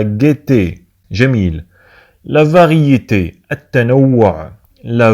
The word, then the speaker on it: gaieté: انتبهوا معنا تكتب la gaieté لكنها تنطق la gaieté.